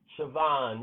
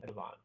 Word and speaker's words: Siobhan: Siobhan, yeah, that is the way it sounds. Who's that? Oh, Jenny. Yes, Jenny. Siobhan. Siobhan. That's not how it's spelled, though. None of those names are pronounced the way they spelled.